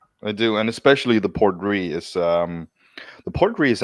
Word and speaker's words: Port Ruighe: So yeah, it's just pronounced R-E-E.